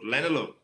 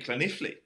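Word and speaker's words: Llanelli: He goes, Lanelu, in Wales, it's a place out west Wales called Lanelu, because it's spelt kind of that way. And he goes, you mean Cloniffley? I went, no, it's Lanelu. And he goes, no, it's Cloniffley.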